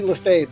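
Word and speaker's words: Lefebvre: the word smith because i have mark leslie lafave did i pronounce that correctly you got that that's amazing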